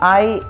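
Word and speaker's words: hay: दोंदे आए उन बैंको, ये एच ए वाई है, इसे जो प्रोनाउंसिएशन है वो है आई, दोंदे आए उन बैंको,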